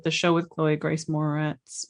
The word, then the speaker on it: Moretz: The show with Chloe Grace Moretz. Moretz. The library. I think is how it's pronounced.